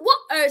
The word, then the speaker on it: water: Ils vont même pas prononcer le T. Ils vont dire, water, c'est quoi?